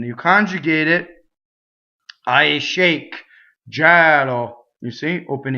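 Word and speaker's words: gelo: But now we have Gɛlo. There are a lot of verbs that do that. When the infinitive, the E is in the unstressed position. When you conjugate it, I shake. Gɛlo.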